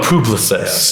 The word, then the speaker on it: Publicis: company called Publicis yes I I pronounce that one Publis you know Publis so one if you're